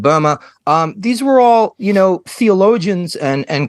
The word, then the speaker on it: Böhme: So, Hildegard von Bingen, Jacob, some people call him Jacob Bohm. I think a closer, true pronunciation would be Jakob Böhme.